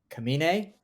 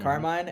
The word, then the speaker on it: Kamine: television series sales are dope we have Sarah kamine not Carmine and starring as Mickey and we have Dylan